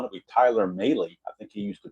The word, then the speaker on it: Mahle: At least I think it's pronounced Mahle, not Malley. I'm pretty sure it's Mahle.